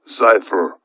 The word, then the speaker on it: Zyphr: one of them and project cipher i will spell that one z y p h r project pogo and project xiifer are the two projects